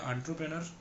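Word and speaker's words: entrepreneur: ये एंटरप्रेन्योर नहीं बोलते, एंटरप्रेन्योर बोलते हैं। ठीक है, आंट्रो बोलते हैं, आंट्रो।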